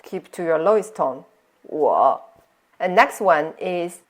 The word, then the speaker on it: 我: The first one, 我 is I. Notice here it's a dip going down and up, so it's the third tone. So follow me. 我.